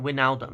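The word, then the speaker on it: Wijnaldum: Um, so you know the J is silent. Waldom. It's just Waldom, right?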